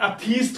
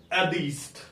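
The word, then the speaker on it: atheist: अब ये वर्ड देखें बच्चे, सबसे पहले कई बार हम इसकी प्रोनाउंसिएशन थीस्ट और अथीस्ट करते हैं। तो इसकी प्रोनाउंसिएशन थीस्ट और अथीस्ट नहीं है। इट इज दीस्ट एंड एदीस्ट।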